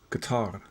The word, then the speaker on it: Qatar: somehow Qatar, which apparently is correctly pronounced Qatar.